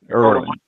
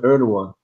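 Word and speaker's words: Erdoğan: Erdogan.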